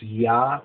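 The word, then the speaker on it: Jah: So anyway, I guess it's ja because the J in Germany is like a Y sound, but it's spelled like J-A-H.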